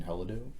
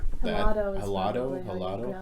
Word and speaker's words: Helado: Helado. Helado.